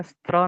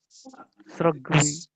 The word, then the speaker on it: स्रग्वी: स्त्र नहीं है, स्त्र नहीं है, स्रग, स्रग्वी। स्रग्वी, ठीक है। दास श्री राम प्रेमी जी। तो इसका शुद्ध उच्चारण हुआ स्रग्वी।